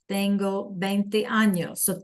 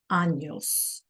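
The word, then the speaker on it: años: Anos. Anos. Right. We have our little tilda over here over our N. So, we have to make sure that we pronounce that.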